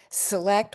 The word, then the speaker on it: select: For example, here we have select which which is a schwa, seclude, awah, secret where it's a long vowel, segregate which is a short vow, and secede which again is awah.